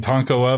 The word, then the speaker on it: Tonkawa: you have to say Tonkawa you have the click play you hear the author saying tonkola the correct way and then you say